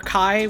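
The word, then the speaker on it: Chi: looks like the letter the Greek letter Kai which they pronounce as key in the series because it's the joke of key blade um and he's got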